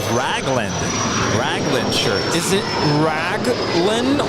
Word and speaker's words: Raglan: up I think those shirts are called the Reagan Reagan Regan Reagan they're like the they look like long sleeve oh different color I don't know why I've always called those baseball shirts yes raglan's the Raglan Raglan oh that's how you pronounce it I